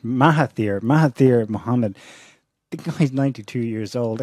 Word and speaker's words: Mahathir Mohamad: And it was led by someone who has previously been in government, let's pronounce his name right, Mahathir Mohamad.